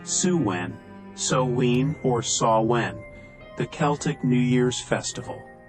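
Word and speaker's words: Samhain: thousands of years to the Festival of saan pronounced suen so or sawn the Celtic New Year's Festival the name means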